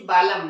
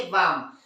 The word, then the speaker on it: balm: से आधा ला, और M क्या पढ़ना चाहिए, बालम, लेकिन वो होता है क्या, नहीं, क्या पढ़ते हैं उसे, बाम।